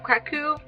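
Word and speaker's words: Kraków: The next book that I really want to get to this month is The Doll Maker of Krakow, which is how you pronounce it, by the way, by R.M.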